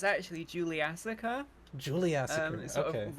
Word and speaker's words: Juliassacre: I mean, like I'm that's adding an like that extra is the two syllable. parts of it. Yeah, Yeah, true. Ju- Juliassacre.